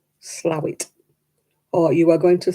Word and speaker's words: Slaithwaite: And they say things like, you know, you are going to Slaithwaite. No, Slowit.